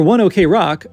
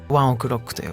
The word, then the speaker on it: One OK Rock: For One OK Rock, which is the way I have admittedly been pronouncing it myself, in Japan they say it something more like ワンオクロックという。